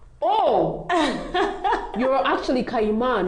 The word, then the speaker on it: Kayima: I was like, oh, you're actually Kayima, not Kayima. Because that's how Jagero was pronouncing it.